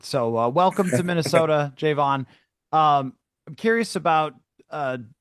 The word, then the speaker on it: Javon: Javvon is how you pronounce it? Yeah, that's how you pronounce it. Okay. I've heard a million people say your name, Javon. So, welcome to Minnesota, Jayvon.